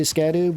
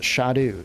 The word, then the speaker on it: Scadu: pronounced Shadow trees uh so I I say scadu but they are actually pronounced shadu shadu trees shadu trees you have to watch